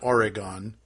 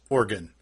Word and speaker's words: Oregon: before it is not Oregon or a gun its organ no vital like vital organs like you swear it